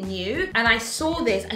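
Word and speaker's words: Nue: brand called n-u-e so i think it pronounced it new and i saw this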